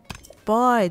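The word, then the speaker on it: Vai: バイだ。下唇を噛む感じで発音するんだ。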